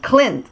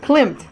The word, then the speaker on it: Klimt: Gustav glimpse glimpse quote Clint Clint Klum Clint yeah yeah Clint thank you klimt like it's like it's spelled we stop Clint okay